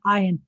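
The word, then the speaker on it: עין: You're not supposed to pronounce an ayin the same way you pronounce an aleph. Aleph, ayin. With the same vowel under it, it's slightly different. Well, the consonant sounds different.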